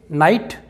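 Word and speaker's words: knight: शक्ति और देखते हैं दोस्तों आगे नाइट इसका मतलब है योद्धा यहां पर जी एच भी साइलेंट है और यहां पर दोस्तों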